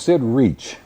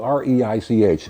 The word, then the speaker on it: Reich: the two of us, a fellow named Sid Reach, was spelled R E I C H. You think it'd be Reich, but he pronounced it reach.